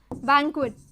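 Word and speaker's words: bouquet: दोनों का स्पेलिंग देखने में काफी हद तक सेम होता है, लेकिन अलग अलग साउंड होता है, ये पूरा बोला जाता है बैंक्वेट, और इसको बुके कहा जाता है, UET का टी नहीं बोला जाता है।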